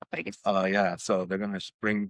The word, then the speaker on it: Plagueis: Plagueis. Plagueis.